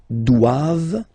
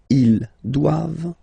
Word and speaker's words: doivent: All right, and then the last one, ils doivent. So same thing, classic ending for the plural form, E-N-T here, okay, but then you don't pronounce it. Doivent, doivent. Elles doivent. Ils doivent, elles doivent.